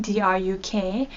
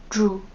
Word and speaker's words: Druk: you would say dru you don't say druk drew is how you pronounce it you drop the at